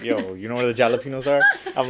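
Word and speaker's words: jalapeño: have the enye so the n with the squiggly line at the top or tilde right that's enye that is what makes us pronounce the word jalapeno oh i see so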